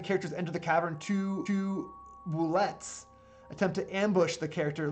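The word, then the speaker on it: bulette: Shortly after the characters enter the cavern, two boulettes attempt to ambush the character looking for an easy meal. I've been told this is pronounced boulette, like cigarette, not boulet.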